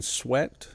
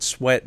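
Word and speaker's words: Swett: he did hypnotherapy now that was a captain sweat and it's spelled s-w-e-t-t captain swept had given a couple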